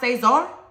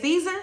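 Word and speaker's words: César: If you want your name pronounced Sayzar, and they say it Season, correct them.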